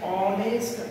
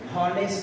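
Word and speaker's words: honest: এটার উচ্চারণ হনেস্ট না, ডিয়ার স্টুডেন্ট, এটির উচ্চারণ হবে অনেস্ট। তাহলে এইখানে এইচ আমাদেরকে সাইলেন্ট থাকতেছে, এই জন্য আমাদেরকে এখানে এন নিতে হবে।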